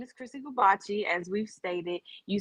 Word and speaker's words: Chrissy Goobache: yeah yeah so everybody um my name is chrissy gabachi as we've stated you spell it c h r i s s y